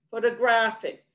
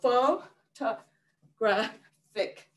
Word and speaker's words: photographic: start down squatting and the third one photographic we start with standing and then squatting and then jumping and then squatting so photographic so fall to graphic okay so with that